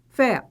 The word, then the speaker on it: café: e proparoxítona a antepenúltima então café o que que ela é a sílaba mais forte fé oxítona beleza é máquina máquina qual